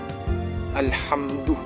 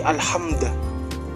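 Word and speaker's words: الحمد: Nah, di sini contohnya ya, yaitu kata ini contohnya alhamdu kayak gitu. Terus di sini tuh diubah jadi alhamda.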